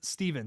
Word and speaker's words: Steven: I can't wait for Halloween Ends, and Jake, it's pronounced Steven, so you had it right the first time.